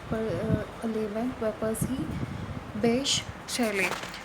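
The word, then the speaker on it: Bysshe: हैं वो है पर्सी बेश. The pronunciation of this B word is बेश. ठीक है, बेश, पर्सी बेश शैले.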